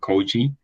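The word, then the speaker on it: Køge: I think it's around Kurd. We call it Koji because that's how it's spelled.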